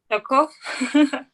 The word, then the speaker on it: Charcot: Yes. Charcot. That's how you say it.